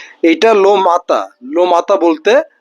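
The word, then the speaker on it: matin: লোমাতা। লো মাতা মানে দা মর্নিং। কেউ আবার এম এ টি আই এন মাতাকে মতিন বইলেন না। এটা লো মাতা।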